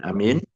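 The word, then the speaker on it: آمين: Ya, jadi bacanya yang benar. A-nya panjang, mim-nya juga panjang ya. Karena kalau a-nya pendek, amin artinya beda ya. atau mimnya pendek. Amin. Ya, itu juga artinya juga berbeda.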